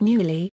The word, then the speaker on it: Neuilly: The name spelled Neuilly after the French Academy standard of pronunciation of the ill as a y.